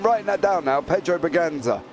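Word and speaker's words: Bragança: well yeah I'm writing that down now Pedro baganza right thank you Michelle there as well is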